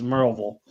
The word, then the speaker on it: Maryville: big aluminum factory at it looks like maryville but it's actually they pronounce it as marvel there's a there's a